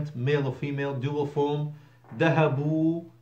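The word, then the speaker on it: ذهبوا: or female, dual form, dhahabu wow alif, silent alif, written not pronounced, dhahabu they went masculine, plural, dhahabna they feminine went.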